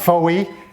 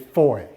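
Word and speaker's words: Fowey: it's not Foley or Foe way or anything it's four so that's something that one learns rather quickly because they're not amused when you they say it's five its that rhymes with joy and then we went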